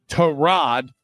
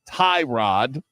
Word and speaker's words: Tyrod: Terrod, not Tyrod. Uh, according to Baker Mayfield, that's how you pronounce the starting quarterback's name for the Jets.